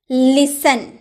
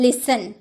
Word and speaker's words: listen: टी ए एन दे रखा हो तो 30 साइलेंट रहता है जैसे लिसेन आपका भी इसे लिस्ट एंड बोलते हैं listent